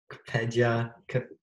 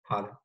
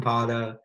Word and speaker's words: Kpedja: Shalom Kpedja. Connor, do you know how to say that? The K is silent. It's just Pada. Pada. Shalom Pada.